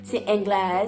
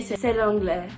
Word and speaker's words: c'est l'anglais: And I was like, "C'est anglais, c'est anglais." So I didn't pronounce it correctly. I was supposed to say "c'est l'anglais."